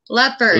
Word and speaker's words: leopard: No, leopard. It's not leopard. You have to put a D on it. Leopard. Leopard. Leopard. All right. With yeah. D. I forgot that. Leopard. Okay, leopard. No, leopard. Not pard. Pard. It's not pard. It's leopard.